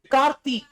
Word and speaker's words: Karthik: Karti. Okay. I will put this letter name like this. Karti. It's also correct. Correct. Pronunciation is correct.